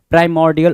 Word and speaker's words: primordial: So prim, if we call it prim, so prim, and if we call it prime, prime, right? So primordial would be the right and appropriate pronunciation for that particular word, primordial.